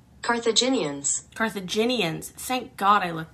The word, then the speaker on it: Carthaginians: Carthaginians pronunciation. Carthaginians.